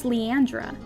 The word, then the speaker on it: Leandra: from your cousin leandra who's leandra rhymes with deandra from most popular girls in school you didn't want to